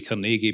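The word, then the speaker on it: Carnegie: former president of the kegi Endowment for International Space um actually it should be kegi because he was a Scot and that's how you should pronounce that word but anyway um so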